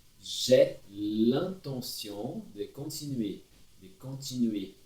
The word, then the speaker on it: continuer: De continuer. Não pronuncie o R final também.